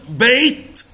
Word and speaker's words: baked: بص baked. Bake يعني يخبز. baked يعني خبزة. الاي دي دي هتنطقها كأنها تي تقول baked.